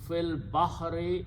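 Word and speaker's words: في البحر: fee means in and you pronounce Phil Baha and because of the hafizer fee last letter is changed to a Kasra so the final word is Phil Bahari in the ocean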